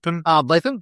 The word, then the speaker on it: Ardlethan: Let me get that pronunciation. Ardlethan, thank you very much.